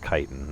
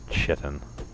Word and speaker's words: chitin: pronounced by the way the word is pronounced chitin not shittin I kind of want